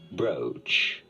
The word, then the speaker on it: brooch: to fasten them together it certainly looks like it should be said BR right right right no it has to be pronounced rather bro BR pretty straightforward once you know to yeah